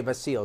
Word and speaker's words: Vasyl: Dude, Vasil Lanchchenko, by the way, Vasil is the way you pronounce it.